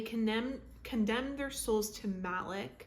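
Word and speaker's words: Malek: condemned their souls to Malik believe that's how you say it mik m a l e kes. Malik yeah Malik and we're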